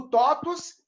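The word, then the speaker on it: TOTVS: propaganda da marília gabriela chamava top se escreve te o pvs então o topus nada mais é do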